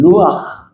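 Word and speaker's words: רוח: 때문에 쓰여지고 있는 거예요 바람이라고 하는이 말은 구약성경에서는 루아 이렇게 발음합니다 그런데 하나님의 호흡이라는 뜻입니다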